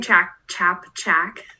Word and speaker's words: Ciapciak: um background info um you pronounce my name chap jack i have an english bulldog his name is flapjack chap chat that's how you can remember it um he looks like